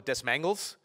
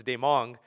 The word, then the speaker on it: Desmangles: When I first read his name, I thought it was Desmangles, because it's pronounced it's written Desmangles, but it's Demong.